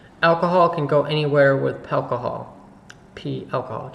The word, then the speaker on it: Palcohol: Alcohol can go anywhere with Palcohol. Alcohol. Just put a P in front of alcohol and that's how you say it.